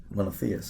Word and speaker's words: Monotheist: Monotheist. Monotheist, okay. Yes, I'm from Wisconsin. I have terrible with pronunciations, but I've been a fan ever since that album.